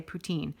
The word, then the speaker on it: poutine: generally going to say putine and most people around here would say poutine but she's absolutely correct it is poutin it's a French word and that's how it's supposed to be pronounced so and you want